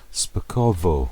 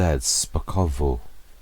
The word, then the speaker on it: Szpakowo: It's Szpakowo. It's the V, not a W, and it's sort of a silent Z. Szpakowo.